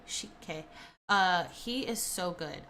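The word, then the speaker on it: Sik-K: It's um by it's by multiple artists or like there it's featuring multiple artists but uh Shik is how you pronounce that. S I K K Shik K.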